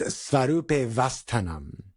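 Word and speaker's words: svarūpe 'vasthānam: And to avoid that like stoppage of airflow, the pronunciation is, at least to the best of my admittedly limited study, is svarupe vastanam.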